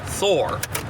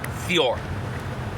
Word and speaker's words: Thor: For example, Thor is not pronounced Thor. It's more like Thior.